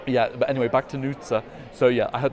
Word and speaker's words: Nutsa: It's Nutsa. I always say it wrong. It's not Nutsa, it's Nutsa.